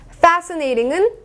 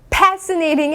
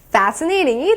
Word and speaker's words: fascinating: 이제 파티는 party fair n 어가 아니라 fair fascinating pasting이 아니라 fascinating이 되겠습니다 자 마지막 지에요 자 I love to